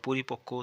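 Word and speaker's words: পরিপক্ব: কয় বয় পক্ষ আবার পরিপক্কও তাই পঋ প কয় বয় পরিপক্ক তাহলে কয় ব এর উচ্চারণ হবে কয় ক এর মত মনে হবে দুটো ক আছে এখানে এবার দেখো কি লিখছে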